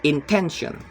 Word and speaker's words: intention: The second is intention. The root word is intent and the suffix is ion. The stress is on the second to last syllables, intention.